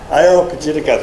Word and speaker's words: Areopagitica: But several hundred years before, John Milton in I can never pronounce it, Areopagitica? Areopagitica, thank you.